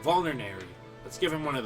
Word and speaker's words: vulnerary: should give him a volary vulnerary I keep on pronouncing that volary and there's not a T in there I don't know why I'm saying volary but vulnerary let's give him one